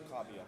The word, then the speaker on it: Kabia: Sir, for the pronunciation of Amadu's last name, that's Kabia, like corn on the cob. Okay. Cobb, Let's do that then. That makes C-O-B-B, Cobb.